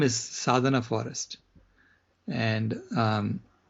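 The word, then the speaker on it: Sadhana: It's a vegan organization that reforests the planet and their name is Sadana Forest and um spell that Sadana.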